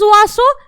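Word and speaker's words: oiseaux: तो यहां पर जो ये एक्स है दैट इज साइलेंट, तो that is उआसो, this is also उआसो, bird.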